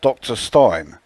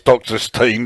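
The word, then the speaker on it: Dr. Stein: does to a degree when i see it written out it looks to me like it should be pronounced dr stein um but let's face it halloween or german they know their language are downside better than me so if they say it's doctor's team then then you know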